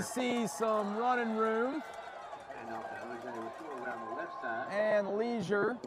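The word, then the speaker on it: Lesure: They call him Leisure. Leisure. Over the PA. Leisure, okay. O.J. Leisure. Maybe if he was in Louisiana, it'd be Leger. Yeah. Yeah. It's spelled with an S, L-E-S-U-R-E. You know, Oh, not okay. the proper spelling of leisure, so that's maybe why it's leisure.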